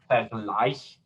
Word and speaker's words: Vergleich: Vergleich, we can hear that little suffix, and then the second syllable takes the stress.